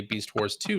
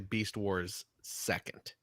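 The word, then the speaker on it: Beast Wars II: a retool of japanese-only beast wars 2 skywarp yeah thinking okay cj yeah i'm sorry oh god um i know it's it's it's spelled out beast wars 2 but it's actually beast wars second is how you that's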